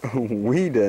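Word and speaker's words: Ouida: weer that's weer that's ain't that funny name weeda and it's spelled o u i d a WC B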